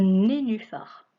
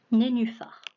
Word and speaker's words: nénuphar: Un nez, nu, phare. Un nénuphar.